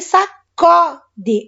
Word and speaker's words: sacode: Então, sacudir, ele sacode. Olha o O aberto lá.